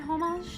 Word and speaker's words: homage: Is that the correct word, homage? Oh, by the way, is the Homage, like the H is is silent.